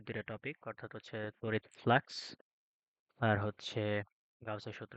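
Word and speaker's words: flux: electric ফ্লাক্স electric ফ্লাক্স এফ এল ইউ এস ঠিক আছে ফ্লাস না ফ্লাক্স আবার এই ফ্লাক্স হচ্ছে খাবার ফ্লাক্স না ওটার উচ্চারণ হচ্ছে ফ্লাস এফ এস ফ্লাস ঠিক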